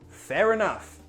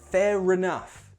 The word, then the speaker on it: fair enough: Number 2, fair enough. Pronunciation, be careful of that end R. Remember, British English has linking R, so that end R sound links into the next word. Fair enough.